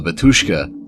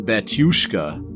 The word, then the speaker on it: Batushka: to be the real Batushka. I guess you pronounce it like there's a Y in there.